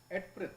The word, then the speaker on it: Eadfrith: Nice name for a daughter, Eadfrith. Eadfrith. It's Edfrith. Edfrith? Yeah. You think so? I'll take the A is silent.